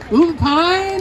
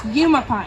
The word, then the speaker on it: Umapine: there, and she's from Umpine, Oregon. And Taylor, I have to admit, I had to ask the pronunciation of Umapine. I didn't know. You're actually close. It's Umapine. Oh, I know.